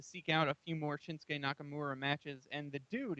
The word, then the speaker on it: Shinsuke: We have Sami Zayn versus Suki Nakamura. Hopefully, I'm pronouncing that I, correctly. I think the U is silent, like in Asuka. I think it's just Shinsuke Nakamura.